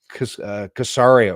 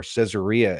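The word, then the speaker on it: Caesarea: we own these places even casaria or cesaria as we would pronounce it in English uh in this reconstructed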